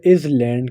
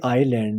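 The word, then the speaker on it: island: अब बहुत ज़्यादा लोग इसे इज लैंड कहते हैं लेकिन ये इज लैंड नहीं है, ये आइलैंड है जिसमें एस साइलेंट है।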